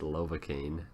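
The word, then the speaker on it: Lovakengj: and speaking of lovacaine it's pronounced lovacaine not whatever i said last time um that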